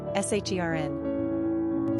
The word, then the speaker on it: Sharon: Pronunciation, SHERN.